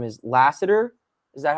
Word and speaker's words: Lassiter: With Stingley gets a lot of the headlines, but I mean, I think his last name is Lassiter.